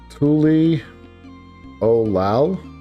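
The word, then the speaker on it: Tuliyollal: So it's pronounced Tuli Olal.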